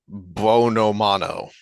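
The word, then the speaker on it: Buonomano: This is why you can't remember the guy's name because I don't know how to pronounce that. Dean Bonomano. Yeah, that's right. Yeah. Bionomano, something Yeah.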